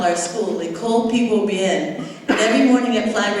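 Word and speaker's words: Pi Gwo Byen: P Guo Bien. Oh yeah, P Guo Bien, which is the greater good in Creole. So that's what we call our school, L'école P Guo Bien.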